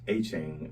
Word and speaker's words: Etienne: As he likes to be called, Travis Etienne. That's how they say his name is supposed to be pronounced, but I still say Travis Etienne.